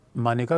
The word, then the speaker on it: मेनका: और याद रखना, मानेका गांधी जिसको हम मेनका, सामान्यतः बच्चे समझते हैं मेनका। बच्चों देखो, मानेका गांधी पंजाब से थी और हिंदी भाषी क्षेत्र का उच्चारण पंजाबी भाषा में फ़र्क होता है।